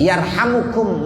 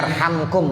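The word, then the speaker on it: يرحمكم: Yarhamukum man fis sama. Ada yang bacanya yarhamkum boleh, yarhamukum juga boleh. Tapi yang lebih bagus yarhamukum, jumlah du'aiyah jadinya. Yarhamukum man fis sama.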